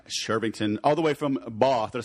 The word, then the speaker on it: Bath: Martin Shervington, all the way from Bath.